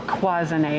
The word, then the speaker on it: cloisonné: Or Cloisonné, if you want to pronounce it the French way.